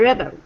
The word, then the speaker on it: rebel: Heidi, how do you pronounce the first one? First one. Yeah, as a noun. A rebel. A rebel. Very good, and that's perfect. And the second one as a verb. Rebel. Rebel. Excellent.